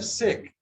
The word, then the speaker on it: sec: Here sec, C is pronounced, but not here. It is blanc.